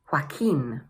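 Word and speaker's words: Joaquin: So, the first one is pronounced: hwa-keen.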